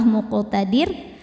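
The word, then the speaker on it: مقتدر: Huruf qaf sukun dihukumi qalqalah sughra, sebab qafnya sukunnya tidak asli ya, bawaan dari kalimah muqtadir dan ada di tengah bacaan. Maka huruf qaf ini cara bacanya dipantulkan dengan pantulan yang kecil. Muqtadir. Saat berhenti di huruf ro-nya kan disukunkan, dibacanya tarqiq. Kenapa? Karena sebelum ro disukunkan ada baris kasrah, maka ro-nya tipis.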